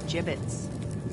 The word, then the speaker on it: gibbet: It's pronounced gibbets.